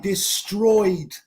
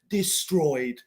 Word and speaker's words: destroyed: So, Alison Garay, destroyed. Yeah, Y-E-D, destroyed. No es destroyed, destroyed.